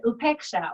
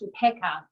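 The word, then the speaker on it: upekkhā: And upeksha, or it's pronounced upeka in the Pali, which is the language that ancient Buddha scriptures were written in.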